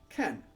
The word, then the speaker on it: 間: The basic counter for a span of time is can, which is read as can.